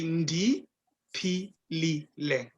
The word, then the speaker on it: ndipilile: Then the person would respond to you and say, it's got 4 syllables. So this is a bit tricky now. It's so you say ndi, pilile.